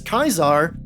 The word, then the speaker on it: Caesar: cultural name and thus use the original pronunciation of the Latin C and Greek K this is why some people refer to Caesar as kaisar or cisero as Karo